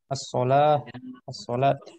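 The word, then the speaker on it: الصلاة: Hanya penulisan saja, tapi sebenarnya dibacanya tetap as-shalah seperti itu.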